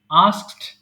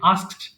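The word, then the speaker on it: asked: আস্ক জিজ্ঞাসা করা আস্ক আস্কড আস্কড এই ওয়ার্ডটা উচ্চারণে একটু সমস্যা হয় মাঝেমধ্যে শুরুতেই দন্তস টা আগে আসে আস্কড আস্কড আস্কড এরকম আচ্ছা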